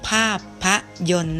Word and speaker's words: ภาพยนตร์: โรง ภาพยนตร์ นะ คะ มี ต่อ เต่า รอ เรือ เป็น ตัว การันต์ นะ คะ อ่าน ออก เสียง โรง ภาพยนตร์ นะ คะ คำ ว่า เยิน ไม่ มี เต่า รอ เรือ การันต์ ออก เสียง นะ คะ เด็ก ๆ